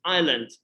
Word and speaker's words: island: just a moment auto no need to pronounce s i land island you say desert island